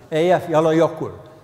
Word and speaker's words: Eyjafjallajökull: Eyjafjallajökull is the pronunciation that I prefer.